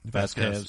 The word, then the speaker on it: Vasquez: Val how do you say her name vquez Vasquez yeah uh that's it isn't it um no